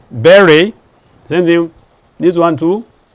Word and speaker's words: beret: You don't say beret. What do you say? Beret.